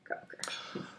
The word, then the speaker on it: Gauker: And I'm Gauker, or Gauker. Gauker.